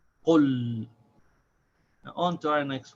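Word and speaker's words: قُلْ: So we say qul as one syllable. We stop on the sound of the lam.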